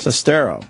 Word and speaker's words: Sestero: You almost said it Sestero. right with the accents in the wrong spots. Greg, pretty much it. Sestero.